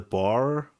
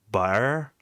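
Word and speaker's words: Boer: farmer, kill the, uh, the bar, I think it's pronounced. It's B O E. And I heard a, uh, a South African I know who like sounds more Africans, like he speaks with like an accent and sounds German. He pronounced it like bar or something like it almost sound like bear, like or a bear,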